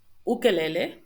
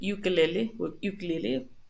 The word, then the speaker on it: ukulele: Oasis, oeste, and also we have the case of ukulele, which is in English would be ukulele, something like that. Remember that the U is u, ukulele.